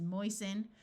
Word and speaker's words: moisten: OI says oi, so this is moisten.